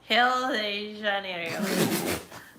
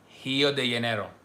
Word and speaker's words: Rio de Janeiro: I think it's actually Rio de Janeiro. Rio de Janeiro. Rio de Janeiro. Everyone's saying Hill. Hill. Oh no, it's actually G. Rio de Janeiro. No, Rio. Rio de Rio. Janeiro. De Janeiro. I think we're both wrong, Ivana.